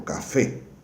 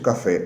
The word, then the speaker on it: café: Por exemplo, café. Café, não é café, é café. Se a palavra aguda termina com N, S ou vogal, ela será acentuada. Se não, não. Por isso, café é acentuado e espanhol não, porque é uma